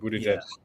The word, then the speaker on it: Buttigieg: I can't pronounce his last name there. Um, Buttigieg or yeah, Buttigieg.